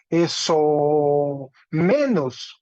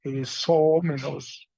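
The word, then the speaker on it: ἐσόμενος: Entonces se lee eso menos, eso menos. ¿Sí? Tiene un espíritu suave en la épsilon y un acento agudo en la ómicron.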